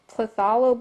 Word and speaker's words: phthalo: Taking ultramarine and phthalo blue, that's how you pronounce it.